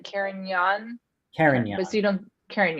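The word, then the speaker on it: Carignan: young so the erin the g is kind of siren or it's like a glide i think you would say like caring young karen yes you don't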